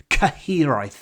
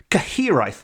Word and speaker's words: Cyhyraeth: the spine chill inspector known as the caheri caheri which is spelled c y h y r a e t h caheri which is a Welsh